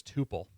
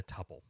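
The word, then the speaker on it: tuple: A lot of people will pronounce it as tupil uh which is not correct. So that it is it is properly speaking a tpple.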